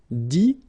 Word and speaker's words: dit: Dire, IRE as well, will give you dit, same thing here, IT, but then you pronounce it I, okay.